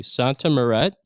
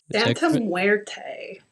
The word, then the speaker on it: Santa Muerte: So, you are a devoted Now, I'm not sure if I pronounced this correctly. Santa Morett. Santa Muerte.